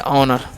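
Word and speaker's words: honour: Next हमारा एच ओ एन ओ यू आर हम पढ़ते हैं ऑनर, क्या पढ़ते हैं ऑनर पढ़ते हैं, हॉनर नहीं, ठीक है।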